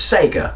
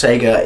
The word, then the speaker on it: Sega: their ass and go why do people you know say Seager it really really really annoys me it's not Seager it's Sega no it's Seager it's just not Seager where you are and